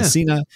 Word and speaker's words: Hasina: Cal meets with his mother, Hasina. Is that how you say it? Yeah. Hasina.